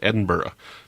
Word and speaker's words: Edinburgh: that's rightly taught me how to say it Edinburgh Cheers well Aiza thanks very much for sending